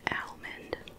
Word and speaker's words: almond: just yell you know the l is silent in almond breeze what even does that